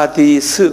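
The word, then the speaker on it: حديث: 그러면 안 돼요 그래서이 전통을 뭐라고 그러냐면 하 하디스 그래요 한번 발음해 보세요 하디스 그래서 하디스이 하디스는 것이 전통인데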